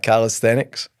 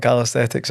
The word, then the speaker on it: calisthenics: No, I got corrected the other week. It was not calisthetics actually. It's calisthenics, I'm sure.